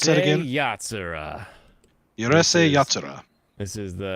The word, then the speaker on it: Urusei Yatsura: How do you pronounce that again? Urusei Yatsura.